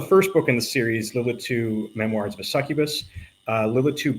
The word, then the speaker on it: Lilitu: Foron and he has written the book uh Lil Lit. Okay, see I told you I was going to screw it up. Lilitu Bloody Caleb.